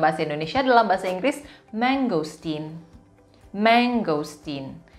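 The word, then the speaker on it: mangosteen: Indonesia adalah bahasa Inggris mangostin mangostin walaupun hanya ada satu huruf g disitu Tapi bacanya tetap menggosok Tin pengucapannya tetap menggosok Cin cake manis berikutnya kita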